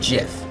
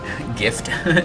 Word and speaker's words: GIF: and those have little gifs of the abilities. And I know I'm already gonna get a couple people. I pronounce it GIF, not GIF. It's like Jif peanut butter, guys.